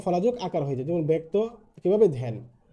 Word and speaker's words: ব্যক্ত: 1 নম্বর যে নিয়মটি আছে সেটি হচ্ছে আদ্যবর্ণে জ ফলা যুক্ত হলে বর্ণটি অকারান্ত বা আকারান্ত হলে এর উচ্চারণ এর মতো হয়। যেমন ব্যক্ত, তোমরা লক্ষ্য করো ব্যক্ত কিভাবে হয়েছে, ব্যক্ত হয়ে গেছে আদ্যবর্ণে জ ফলা যুক্ত হলে।